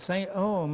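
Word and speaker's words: St. EOM: "Saint Ohm," I asked whether I was pronouncing it correctly.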